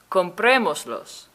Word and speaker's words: Comprémoslos: And remember to put an accent on the third to last syllable. That's the syllable right before the mos. Here are some examples. Comprémoslos. I have los at the end of the command, and I have an accent over the e right before mos.